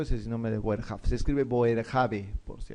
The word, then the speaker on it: Boerhaave: Ese es el nombre de Boerhaave. Se escribe Boerhaave, por si acaso.